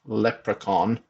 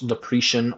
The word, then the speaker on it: leprechaun: a rectal examination by a leprechaun pronounced leprechaun not lepri or leprechan drowned in his pot